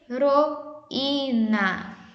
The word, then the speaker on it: heroína: Então, como eu disse para vocês na atividade anterior, a letrinha H, ela não tem nenhum som. Então, nós pronunciamos assim, H com A, E, I, O, U, ão.